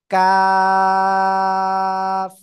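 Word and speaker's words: ق: বাড়াবো বাড়িয়ে তার বরাবর উপরে তালুর সাথে লাগিয়ে উচ্চারণ করব কাফ ঠিক আছে সবাই একসাথে জোরে জোরে পড়েন তো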